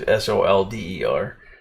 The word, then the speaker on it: solder: comes down to that here in America we use the English spelling, which is SOLDER, but we use the French pronunciation. And you'll have to forgive me, I can't remember how it was spelled in French, but it was said as solder. So somehow somebody in there got mixed up along the way. But it's spelled with an L, so I think we should say it.